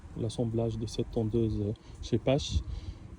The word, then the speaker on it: Scheppach: Donc il y a ceux qui la prononcent chez PAC, mais en fait c'est une marque allemande qui a été créée depuis 1920 par un monsieur qui s'appelle chez Pasch. Ça se prononce comme ça en allemand. Et donc elle s'appelle chez Pasch et pas chez PAC.